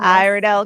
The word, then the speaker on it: Iredell: She is our chapter chair in Iridel. Did I say it right? You say itel. Iredel County, North Carolina.